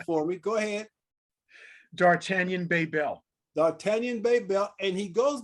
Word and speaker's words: D'Artagnan Bebel: So rather than butcher it up, I want to have him pronounce his name for me. Go ahead. D'Artagnan Bebel.